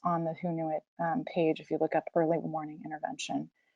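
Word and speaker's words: Hoonuit: Clara County it's called who knew it HIO Nui T and it's pronounced who knew it as in like who knew it we did and so this is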